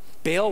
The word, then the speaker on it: Baal: different idols like like baal or ba'al that's how you say it in hebrew right like baal was this